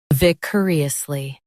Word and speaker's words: vicariously: Stress cur and keep it quick.